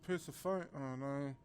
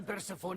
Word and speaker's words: Persephone: funny advance I think she I think it's pronounced Persephone Persephone these days of pizza phony your